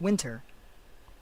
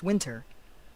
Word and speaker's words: winter: 이 winter도 n 다음에 t가 오면 그 다음에 t를 발음하지 않습니다. 미국 사람들, 많은 사람들이 t를 발음하지 않습니다. 모든 사람이 그런 건 아니지만 winter라고 발음하기도 하고 winter 이렇게 발음하기도 합니다.